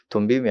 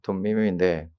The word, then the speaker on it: 둠밈: 둠밈이 아니고 둠밈입니다. 둠밈인데, 우리가 우림과 둠밈이 우리 그 안에 흉패 안에다가 집어넣는데, 그 흉패에는 12보석이 있죠.